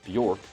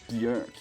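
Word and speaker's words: Björk: And I know most people call her Bork, but that's not the correct way of pronouncing her name, which sounds it sounds like I'm being a nerd about it. Like, actually, her name's pronounced Bork.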